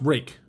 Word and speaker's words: Ruike: there it is it's it's pronounced rake r-u-i-k-e how they get that i don't know but that's how it's pronounced so but yeah another